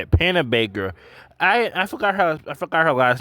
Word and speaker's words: Panabaker: Panabaker.